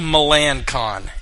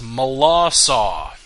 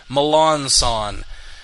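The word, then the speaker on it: Melancon: the way it's pronounced i looked it up it's spelled milan khan m-e-l-a-n-c-o-n milan khan but apparently the pronunciation is mala saw even though the last words are c-o-n apparently that's pronounced saw i don't know uh malassa and he tells people to say milan son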